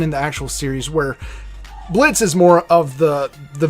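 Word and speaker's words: Blitzø: hi there I'm Blitz the O is silent and I'm the founder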